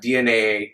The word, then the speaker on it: DNAA: Before this ends, it's not DNAA, it's just DNA pronounced DNA, but spelled DNA.